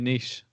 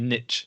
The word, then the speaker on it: niche: with him and that you've got to find your niece although he said your niche which gets me every time americans saying french words incorrectly yeah right click oh